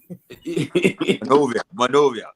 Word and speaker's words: Monrovia: How you pronounce it? What? Which one? Monrovia. Monrovia.